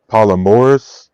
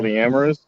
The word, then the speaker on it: polyamorous: I well, mean, if that was the question, then I think polygamy and what is it? Polymorous? Is that how you say it? Polyamory. Polyamorous. Polyamory? Yeah, that's fine.